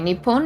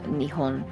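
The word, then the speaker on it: 日本: Okay, Nippon is also technically a formal way of pronouncing the native name of Japan, Okay. but I think it is mostly called Nihon.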